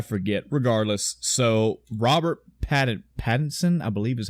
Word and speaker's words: Pattinson: yesterday afternoon I forget regardless so Robert patted Pattinson I believe is how you pronounce his name I should type it in